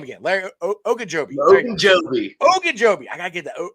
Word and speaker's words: Ogunjobi: Ogunjobi.